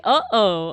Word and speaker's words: uh-oh: I was gonna say, just say uh-oh. Uh-oh has a glottal stop in it.